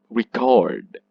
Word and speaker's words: record: example this word record when you pronounce this wrong it can change the meaning example i do that so in the first instance the first this one the stress is in this part the second syllable well in this uh in this word the stress is in the whole let me let me read that sentence i record your voice that is the verb record so you see the